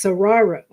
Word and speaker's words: Saguaro: In fact, I was always wondering how to correctly pronounce this, and somebody told me it sounds like tomorrow, but it's Saguaro.